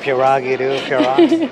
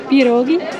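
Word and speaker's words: pierogi: you walk so funny that pagi I'm pronouncing it all wrong is itogi yeah there you go that sounds goodi but I'm that porogi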